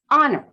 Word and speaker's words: honor: So there will be context where, for example, in the word honor, why do we not pronounce that H?